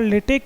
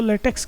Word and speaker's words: LaTeX: यह सोच रहे होंगे मैं बार-बार लेटेक क्यों बोल रहा हूं इसको लेटेक्स क्यों नहीं बोल रहा क्योंकि अक्ष जहां आता है हम लेटेक्स ऐसा कुछ प्रोनंसिएशन करते हैं तो इसका कारण यह